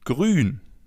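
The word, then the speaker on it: grün: As you already know, the oo with the two dots on top is pronounced oo as in grun.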